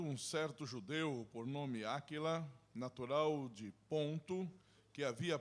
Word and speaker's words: Áquila: Se pronuncia Aquila, não Aquila, como estou mencionando eu. Áquila. Aquila, ok. Desculpa, estou mencionando em espanhol.